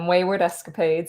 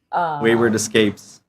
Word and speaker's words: Waywardescapades: I'm Waywardescapades. Everyone, or not everyone, but a lot of people pronounce it wrong. So I think it's just easier to go by Wayward. Wayward Escapes.